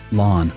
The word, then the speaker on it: Lan: of stone daniel is land to me now i know there's some controversy as he himself said his name is pronounced lon but i'm going to be calling him lan until the show comes